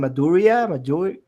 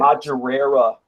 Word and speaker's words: Madureira: I can't pronounce his last name. Maduri. I can't. Madureira.